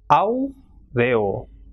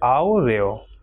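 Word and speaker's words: áureo: Same way, when the two vowels A and U are coming together, that is A is strong vowel and U is a weak vowel, it will be pronounced as aureo. So strong vowel will be stressed more and weak vowel will not be, so it will be aureo.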